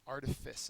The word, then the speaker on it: artifice: Drive apart antonym is attract next one artifice artifice is how you pronounce it uh it's a noun first syllables